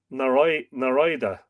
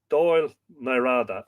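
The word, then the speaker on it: Dál nAraide: d a do NADA so I I said Nar Nara but I had the AI in the wrong part of the pronunciation do NADA do NADA I'm going to leave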